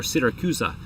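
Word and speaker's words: Siracusa: sicily called syracuse or syracusa as i believe uh sophisticated italian speaking people pronounce it after about three months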